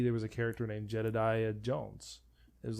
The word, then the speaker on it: Jedidiah: my name too but it is or jedediah jedediah it is that it's spelled out to say no j-e-d-e-d-i-e okay so